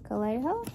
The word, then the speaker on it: Calejo: And it's by Ryan Calejo.